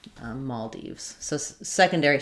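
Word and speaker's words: Maldives: Um, yeah, they say Maul Deves, but then some variance dives. Um, um, yeah. So, there's actually quite a few different ways it's pronounced listed in that dictionary, meaning that um depending on where you are, there's going to be different variants. Um but the most common is Maldes.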